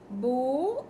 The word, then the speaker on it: beaux: Beaux is plural, pronounced pronounced the same way. The X is silent.